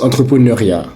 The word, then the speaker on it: entrepreneuriat: Il se prononce entrepreneuriat.